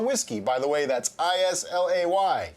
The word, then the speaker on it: Islay: by the way that's i-s-l-a-y yes it is pronounced isla not islam just saying anyway we are now